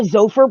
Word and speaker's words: Xopher: Is it Xopher or Xopher? Xopher. Got it. It's a hard X. Pronounce the X. Hard X.